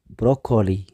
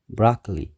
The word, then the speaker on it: broccoli: እዩ cucumber ሳልሳይ broccoli ብዙሓት ሰባት broccoli ይብሉ እዮም እቲ ቁኑዕ ግን broccoli እዚ እውን ሰለስተ syllable ኣለዎ እቲ ቀዳማይ stress ኣለዎ stress ይኾን ማለት እዩ broccoli ራብዓይ potato ብዙሓት ሰባት